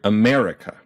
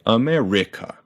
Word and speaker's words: America: its stressed syllables louder in the word America we punch that M and it'd be very weird if we did that to another syllable like America or America in Japanese doesn't do